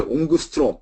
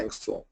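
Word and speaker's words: angstrom: 옹스롬 어 우리 어렸을 때는 이제 옹그스트롬 이렇게도 많이 읽었습니다. 앵스트롬이라고 영어로는 앵스트롬 우리 어때요? 여기 학는 이제 앵그스트롬 온그스트롬 온스트롬 이렇게 했었어요. 근데 이제 영어 발음은 앵스트롬입니다.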